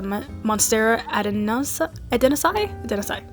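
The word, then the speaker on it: Monstera adansonii: So I got the Monstera deliciosa, and I also got the Monstera adenosai.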